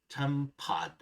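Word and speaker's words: tempat: T sounds like D. Example 3, tempad.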